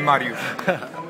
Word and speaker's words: Mariusz: I think it's Marushwak Marushwak Marushbwak the gentleman who got perfect pronunciation of the of the name Marush Marushwak I want to thank you so much for allowing me to interview you.